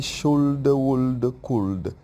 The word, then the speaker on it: should: should could will would be careful don't say should would could the L is silent main verbs examples eat